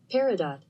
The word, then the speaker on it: peridot: It is pronounced... Peridot.